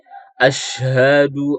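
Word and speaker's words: أشهد: Nah, di sini banyak yang apa namanya keliru pengucapan huruf shin ya. Ash. Nah, ya seperti itu ya. Ada yang pengucapan seperti as pada seperti huruf sin ya, bukan huruf shin. Asyhadu alla harus seperti itu.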